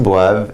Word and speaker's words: boivent: Notice the NT aren't pronounced, just the V right here.